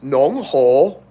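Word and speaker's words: 侬好: So in Shanghai, it's not ni hao, it's nong ho, which is interesting.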